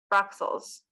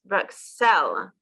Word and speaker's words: Bruxelles: is SEL versus LES, Bruxelles versus Bruxelles. Yeah, no S on the end. So yes, so the English version you say Brussels, don't you? Yes. But in French, that at last S is silent.